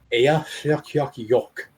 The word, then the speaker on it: Eyjafjallajökull: And the pronunciation is Eyjafjallajökull.